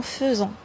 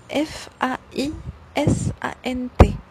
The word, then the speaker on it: faisant: Et attention, la deuxième remarque هنايا en faisant. كيفاش مكتوبة F A I S A N T. F A I ça تنطق في faisant. Mais normalement on dit pas faisant, كنقولو faisant. Alors attention à la prononciation.